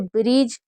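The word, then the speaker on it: bridge: जैसे ब्रिज तो इसमें ब्री पढ़ रहे हैं।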